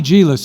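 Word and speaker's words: Djilas: Tommy Gillis, and that's spelled D-J-I-L-A-S, if you want to look it up.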